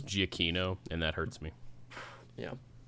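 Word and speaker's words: Giacchino: a bajillion other movies his name looks like it should be pronounced giaccino that's giacino and that hurts me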